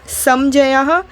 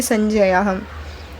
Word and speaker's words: संजयः: समजयः संजयः, इसको प्रोनाउंस हम ना करेंगे, संजयः, ठीक है।